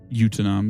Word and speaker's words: Utanam: Utanam is how it's pronounced.